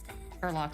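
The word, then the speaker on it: Turlough: Turlock, sorry. Why is it spelled like that? If it's Turlock, then should it not be a CH at the end? It's not English. What is it? It's Irish.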